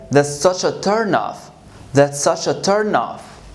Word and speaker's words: turn off: So I'm going to say, that's such a turn off. That's such a turn off. Okay, so turn off, turn off. Turn off, we stress the second word. Turn off, we stress the first word.